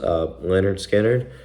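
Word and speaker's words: Lynyrd Skynyrd: 1970, they really dropped their first album, which was called Pronounced Leonard Skinner. They even spelt it out.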